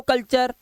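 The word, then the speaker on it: culture: Post चर ने चर अब नटूरे हैं पोस्टुरे फुटुरे कलुरे ये सब नहीं पढ़ना है स्टुरे डेंटरे फिटरे फैक्टरे क्रिएट ऐसा नहीं है। इसी वजह से हम लोग पीछे हैं। रूल्स पता होने चाहिए हमको कि टी यू आर एक साथ अगर लास्ट में लगा है चार पढ़ना है।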